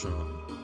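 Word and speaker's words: Seam: The name Shawn. It's pronounced the name Sha. It's pronounced Shawn.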